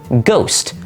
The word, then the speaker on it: ghost: Take a look at the word ghost. You see the little H in the middle? That H is silent, but it used to not even be in the word at all.